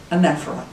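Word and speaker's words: anaphora: 10 line form of the psalms known as anaphra spelled a-n-a-p-h-o-r-a but is pronounced differently anephra it's one to three words used at the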